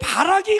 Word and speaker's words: 바락: 벼룩 아닙니다. 우리 목사님 발음이 잘못되면 이게 바락이 벼룩됩니다. 바락. 자, 그때의 바락이 하는 말이 여러분 들어보실까요?